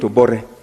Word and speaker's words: Obote: Like when you're writing Obote, you call it Obore.